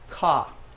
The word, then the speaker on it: ka: it is k okay but in Spanish it's Ka let's say that just like the the crow goes all right well in